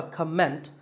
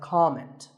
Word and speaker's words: comment: or as a verb the first syllable is always calm so it's never a comment it's a comment word number 11 is